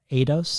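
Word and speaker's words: aidos: It's about the ancient Greek word eidos. Is that how you pronounce it?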